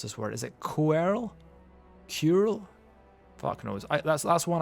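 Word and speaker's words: Coeurl: How do you spell it? C-O-E-U-R-L. Right, so it's yeah, it's basically Carl. You're right, it's Carl.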